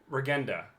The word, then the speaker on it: Regenda: Connor's saying hard G. Oh, damn it. Regenda. There we go.